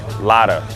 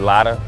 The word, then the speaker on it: Lada: cars I really like this paint on this Lada that's how you pronounce it right lotta there you go man they drive small cars